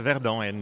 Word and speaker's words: Verdon: It's correct, yeah, Verdon in French.